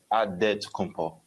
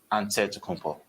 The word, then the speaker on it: Antetokounmpo: Way you gotta say with a D, so it's Antetokounmpo. But in the Greek way, you say with the NT, like Antetokounmpo.